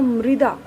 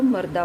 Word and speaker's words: मृदा: इसका उच्चारण होगा मृदा, और बहुत से लोग इसको मर्दा बोल देते हैं, मर्दा।